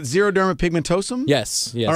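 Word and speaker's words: xeroderma pigmentosum: little bit about the XP Society am I pronouncing it right zerod Derma pigmentosum yes yes all right and that is uh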